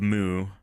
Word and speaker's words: mu: Uh, of Moo. Uh, no it is moo because uh that's how you pronounce mu.